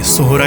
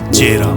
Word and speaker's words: Sohra: आए तो यह जगह सोहरा के नाम से ही फेमस थी। लेकिन ब्रिटिशर्स सोहरा को सही से प्रोनाउंस नहीं कर पाए और उसे कहने लगे चेहरा जो धीरे-धीरे बदलकर चेहरा पुंजी बन गया।